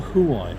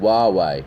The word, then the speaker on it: Huawei: But the Huawei is the one with no place to Huawei, not Huawei. Huawei, you pronounce it.